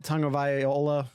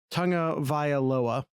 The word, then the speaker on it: Tagovailoa: I got Tagovailoa. I totally just stepped all over that. I'm going to try it again. Tagovailoa.